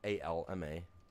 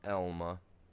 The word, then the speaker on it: Alma: Here in Elma, A-L-M-A, pronounced Elma, not Alma.